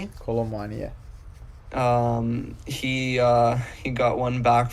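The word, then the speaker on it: Kolo Muani: Colomwani? Yes, Colomwani, yeah.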